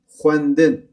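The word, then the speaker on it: xwendin: Xwendın xwendın nasıl eee telaffuz ettiğimi de söylüyorum. Xwendın bakın x ve v sesi. Alfabe dersinde öğrenmiştik. X ve v sesi diftong yapıyor.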